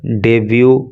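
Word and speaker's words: debut: Who made her डेब्यू speech, देखो इसके pronunciation पे आप ध्यान देना, इसको डिबेट नहीं पढ़ेंगे, इसको बोलेंगे डेब्यू।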